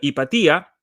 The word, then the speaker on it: Hypatia: Y en este artículo de Kathy Rudy, ella está escrito en inglés, obviamente, en una revista académica llamada Hypatia, podremos pronunciarla Hipatía, en la cual ella dice cómo los discursos